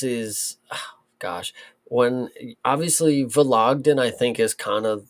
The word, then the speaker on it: Vologdin: Adrian Luna Martinetti versus Mark Vologdin is how you pronounce it.